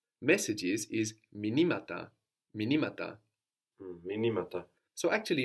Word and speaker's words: μηνύματα: So the accent moves. Minima, minimata. The stress moves.